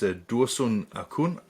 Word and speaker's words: Dursun Acun: today to meet a gentleman his name is dursun akun did i pronounce it correctly yes yes that was correct